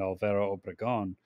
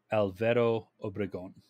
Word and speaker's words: Obregón: time, a constitutionalist army under Pancho Villa and Alvaro Obregón marched south towards Mexico City.